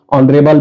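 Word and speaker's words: honorable: का उच्चारण ह है, कहीं कहीं एच का उच्चारण एच साइलेंट हो जाता है और ओ हो जाता है, जैसे ऑनेस्ट में, ऑनरेबल में, इनमें एच जो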